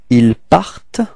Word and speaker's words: ils partent: a bit strange, but the final ENT is not pronounced, okay? It only gives you the possibility to pronounce the T just before, so you get the sound part, part.